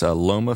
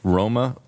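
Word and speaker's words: Rauma: It was just a quick spelling for instead of it's Loma, Finland, it's pronounced Roma, R-A-U-M-A, and that the Children's Oasis International was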